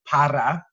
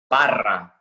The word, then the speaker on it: Parra: And so this week, I wanted to have my homie here, Parra. I don't know. You say it like you. How do you say it? Parra. Parra. You can roll those R's.